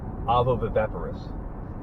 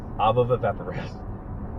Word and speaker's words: ovoviviparous: try to pronounce it, I end up saying viv a few too many times. Ovoviviparous. Ovoviviparous. Ovoviviparous. Ovoviviparous. Man, I can say appendicular. I can say medulla oblongata. Ovoviviparous. That's tricky. Okay, so ovoviviparous development is development that